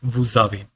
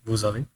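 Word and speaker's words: vous avez: coming between two vels it means we will pronounce it as Z it is going to be a liazon it is going to be a liazon y okay so it becomes VAV so what does it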